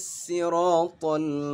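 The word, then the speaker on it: السراط: kombul Prawira Ibnu Katsir membaca awal ayat keenam dengan huruf sin bukan dengan huruf fat sebagaimana yang biasa kita baca Hai cara membacanya adalah ihdinas sirotol mustaqim jadi sweet dibaca dengan si Hai sementara khalaf dan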